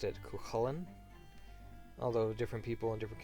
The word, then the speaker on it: Chulainn: I've always pronounced it Chulainn, although different people in different counties seem to